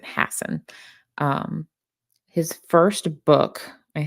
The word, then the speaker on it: Hassan: it Stephen Hassen it's it looks like Hassan but he pronounces it Hassen um his first book